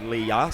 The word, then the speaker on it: Leah: apologies to Leah Chamberlain who I've been calling Lee Chamberlain it's actually Leah so uh my apologies